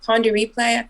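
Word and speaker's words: Pon de Replay: loved like her songs when she was like pawn to replay that's how you say it but like that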